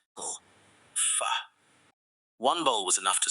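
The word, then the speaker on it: phở: Some called it "foe". Others said "fuh". Restaurant owners smiled politely before explaining that it was pronounced "fuh". One bowl was enough to surprise almost everyone. Unlike many soups, "fuh" wasn't heavy.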